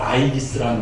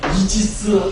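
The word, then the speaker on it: Aegis: 이 방패가 바로 아이기스라는 방패입니다. 그리고 요것의 영어의 발음은 이지스입니다. 그래서 여러분들 저번에 연평해군 저기 할 때 이지스 함대가 우리나라에 왔습니다.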